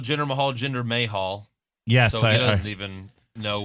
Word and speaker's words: Mahal: like oh thank you finally may Hall that's how you really pronounce yeah that's how you